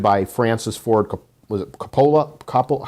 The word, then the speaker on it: Coppola: And it was directed by Francis Ford, was it Coppola? How do you pronounce his name? Coppola. Coppola, thank you.